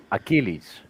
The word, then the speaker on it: Achilles: made it this is my name is pronounced Achilles Achilles ACH yeah Achilles yeah